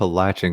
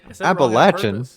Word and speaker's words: Appalachian: you say it was appalachian gun i have a latching gun singer i can't believe i just mispronounced that word um yeah you're welcome that's my word oh you said it wrong it made me say wrong appalachian appalachian gunslinger uh welcome uh and congratulations uh